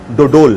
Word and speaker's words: Dodol: And with that, we will also see the preparation for Dodol. Host: “Am I pronouncing it right?”